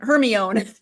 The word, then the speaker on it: Hermione: kids went through their whole 7 books saying Hermione, until in one of the books she actually tells Victor Crumb how to pronounce it, and it's spelled out phonetically.